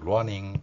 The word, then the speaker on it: running: 따라서 이 소리 원리를 적용하면 running 이렇게 발음할 수 있다는 것입니다.